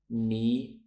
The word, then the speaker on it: knee: they are Island debt knee subtle knife thumb known ballet and mortgage did you get all of those correct so we have a silent s a silent b a silent k okay that is it